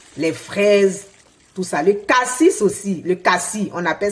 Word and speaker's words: cassis: Cassis, on dit cassis, oui. Pas me blesser, hein, cassis. Oui, à force de parler d'autres langues, on va tout prononcer jusqu'à la dernière lettre.